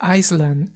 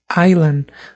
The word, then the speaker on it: island: Y aquí fíjense, no se dice Island, eso es incorrecto. Se dice Island. Recuerden que hay algo que se le conoce como silent letters.